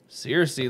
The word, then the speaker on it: Cersei: Now, Cersei Lannister.